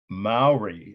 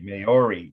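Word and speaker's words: Māori: Maori, I used to say Maori, that's mispronouncing the native or indigenous name of this culture.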